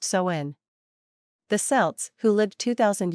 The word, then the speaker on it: Samhain: back to the ancient Celtic Festival of saen pronounced soen the selts who lived 2,000 years ago mostly